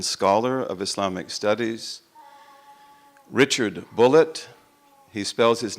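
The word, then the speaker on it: Bulliet: by an American scholar of Islamic studies Richard bullit he spells his name B you ll IET and he pronounces it bullit and it's called the case for Islamic Christian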